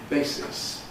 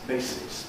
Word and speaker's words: basis: The diphthong in the first syllable of basis is a good example. Basis. Basis. Basis. Not basis, but basis. Ba- basis. Because of the s, the voiceless s.